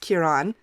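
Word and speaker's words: Ciarán: It's pronounced Kieran.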